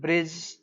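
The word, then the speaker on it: bridge: जे भी आते हैं तो एक सूत्र है कि का बोलबाला ड के मुंह पर ताला डी है यह साइलेंट हो जाता आप बचपन से पढ़ते हैं। जे यू डी जी ई जज बी आर आई डी जी ई ब्रिज बोलिए पी यू डी जी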